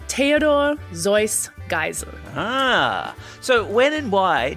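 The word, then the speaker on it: Theodor Geisel: came from Germany so the traditional way of pronouncing his name was Theodor zoy gel ah so when and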